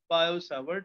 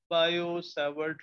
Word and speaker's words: Biot-Savart: Similarly two find the magnetic field due to current carrying wire, we have another experimental law called as Biot-Savart. T is silent. Biot-Savart law.